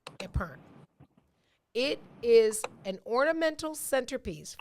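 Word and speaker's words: epergne: spelled sounds hard but it's a french word so there's a lot of silent stuff going on in here it is pronounced a pern spelled e-p-e-r-g-n-e but pronounced a perm it is an ornamental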